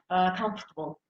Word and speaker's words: comfortable: give me a word comfortable comfortable comfortable um where is the stress in what syllable the first in the first syllable and how would you